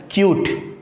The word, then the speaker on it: cute: अगर e को ऐड कर लिया, then we get a new formation called or known as or pronounced as cute.